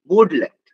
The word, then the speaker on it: Bodoland: ঠিক আছে, বোর্ডল্যান্ড মানে বিও, আমি ইংলিশটাই লিখছি, উচ্চারণ করবে BODOLAND, বোর্ডল্যান্ড।